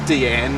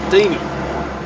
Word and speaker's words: Deanne: Deanne is Deanne, not Deanie.